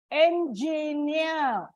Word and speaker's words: engineer: Engineer. Like I said again, it is not before EE, but before N. Engineer.